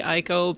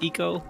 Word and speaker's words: Ico: this is eco some people say aiko but if you're following japanese pronunciation it's eco so you say eco